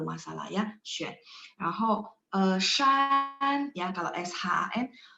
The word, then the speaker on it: 山: Yang bagian ketiga XUAN sama SHAN.